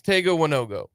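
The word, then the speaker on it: Tega Wanogho: prince do you keep Prince Tego oneogo or however you pronounce it that is how you pronounce it like that that's it because I hope I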